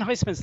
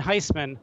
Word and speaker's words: Heisman: And I'm like, if you Google, Heisman's not the most common name. So if you Google Heisman, I'm like the entire first page of Google.